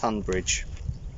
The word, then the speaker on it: Tonbridge: school boarder tonbridge tumblr spelt on bridge but pronounced tunbridge uh there's a castle